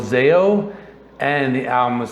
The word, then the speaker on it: Zao: the band is called zeo and that is actually the correct pronunciation not zao you know luckily i